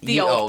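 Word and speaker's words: Ye Olde: d e pub but it's not said that way. It's still said the old pub.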